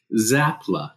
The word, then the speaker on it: Czapla: and then I thought how do you pronounce it properly zapla the CSI okay yeah I meant